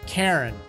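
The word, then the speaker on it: Charon: not charizard in fact it's not even pronounced char it's karen like the moon of pluto i think it is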